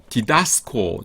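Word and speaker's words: διδάσκω: 디다스코 . 디다스코 .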